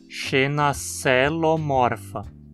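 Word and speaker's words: Xenacoelomorpha: Então também dizemos xenacelomorfa. Lembre-se de que a sequência OE é pronunciada como um E, xenacelomorfa.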